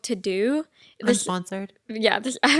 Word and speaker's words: Teuxdeux: It's yeah, literally it's spelled Teuxdeux, so it's like to do.